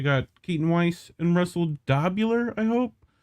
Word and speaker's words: Dobular: due dissidents we got Keaton Weiss and Russell dobular I hope how do you say that last name you got it you got it dopular you got it yeah you got it my